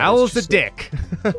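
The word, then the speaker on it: Alzadick: rekka also 92 was al zadik i'm not sure how you're supposed to say that how do you say that that's exactly how you say that owl's the dick it's an unfortunate name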